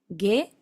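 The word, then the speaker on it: げ: En el caso de la gi y de la ge, es como si fuera en el español la G-U-I o G-U-E, gi, ge. Solamente que la U no se escribe.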